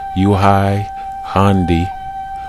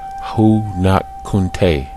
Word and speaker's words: Huangdi: His name is pronounced in Old Chinese as Huangdi or Huangdi.